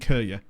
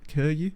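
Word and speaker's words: Køge: specifically with um uh HB Kura or forgive me Dan for how it's actually pronounced Kuru.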